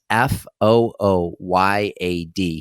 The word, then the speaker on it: Fouillade: That's Fooyad. He did us all a favor. He used the phonetic pronunciation of his last name.